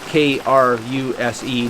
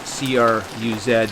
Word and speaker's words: Kruse: Jack Kruse, and that's Kruse, not Cruz or Z as some pronounce it, because this man has delved into this in a deep way.